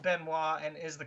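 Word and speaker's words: Benoit: Well, I mean Ben Wis the one that you said Benoy is pronounced Benois.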